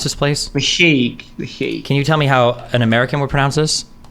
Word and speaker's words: The Hague: How the fuck do you pronounce this place? The Hague.